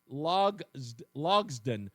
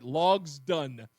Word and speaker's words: Logsdon: Uh and his name is Slade Logden, if I'm pronouncing it right. Logsdon.